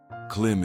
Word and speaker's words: klīm: Clim is pronounced as cle with a long e sound.